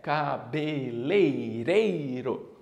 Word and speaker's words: cabeleireiro: foi direto então veja a pronúncia correta é cabeleireiro isso veja aqui que nem tenho r né nem tem a